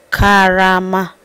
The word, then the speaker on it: Karama: learn how to say by repeating after me Kama k Kama you won't know how to say